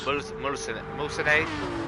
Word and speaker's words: Mulsanne: Mulsanne, into Mulsanne. There you go. That's what it's called. I've probably butchered it the 6,000th time today, but here we go then.